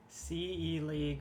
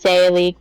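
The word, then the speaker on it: Se League: CE League versus PA League. It's actually pronounced Say League versus Pa League, but Sepa.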